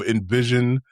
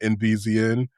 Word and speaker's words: NVZN: and more about the studio envision, which that's how you say it not invizn.